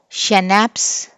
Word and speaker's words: Schnapps: Schnapps. S is silent, sorry C is silent.